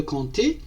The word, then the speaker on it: compter: Le p par exemple de compter ne se prononce pas.